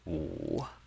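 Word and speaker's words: 五: This is how we write the number five in Chinese, and the number five in Chinese has the third tone, which is wu, wu, and that's very easy.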